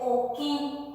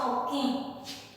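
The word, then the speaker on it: okẽ: Puerta se dice oquín, con un acento nasal. Mi nariz se cierra un poquito y dice oquín.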